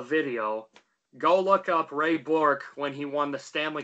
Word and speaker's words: Bourque: How exactly do you pronounce? Yeah, it's Bourque, right?